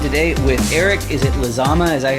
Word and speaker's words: Lizama: I'm joined today with Eric is it lizama is that how you pronounce it yes sir that's correct excellent how